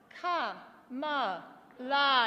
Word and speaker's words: Kamala: I've got another word with 3 syllables. It's Ka-ma-la.